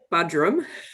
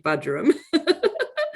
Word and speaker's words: Buderim: How do you pronounce Well, that's what the tourists call it, but it's actually called Buderim.